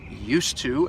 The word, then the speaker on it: used to: The D and the T, they blend together to create one sound.